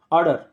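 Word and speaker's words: ardour: ऑर्डर, इसको ऑर्डर पढ़ा जाता है, आर साइलेंट रहता है, ऑर्डर।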